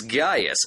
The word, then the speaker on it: Gaius: footage for the film the actors correctly pronounce it as Gaius as in this pre